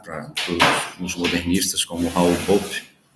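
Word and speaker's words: Bopp: que é o Raul bop né a pronúncia bop que é descendente de alemão escreve Cobra Norato que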